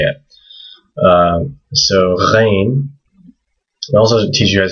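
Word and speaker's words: غين: This is a GH sound. So it's gh. It's not the same as a kh. So it's not the same as a kh. It is not this.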